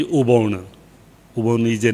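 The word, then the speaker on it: อุบล: Uppala, that is the lotus. Thai word is Uppala, but pronunciation is Ubon.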